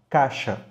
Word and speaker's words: caixa: É o caso, por exemplo, de caixa, que pode perfeitamente ser pronunciada só com A, caixa.